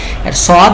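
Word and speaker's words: ص: তো সদের ক্ষেত্রে কি আবার একটু স্মরণ করি, সদ এটা মোটা সাউন্ড, মানে অ সাউন্ড, এবং এটা 4 আলিফ টান হবে, এবং শেষে কি হবে, দাল সাকিনের উচ্চারণ আসার কারণে একটা ধাক্কা হবে। কিভাবে, সদ সদ সদ।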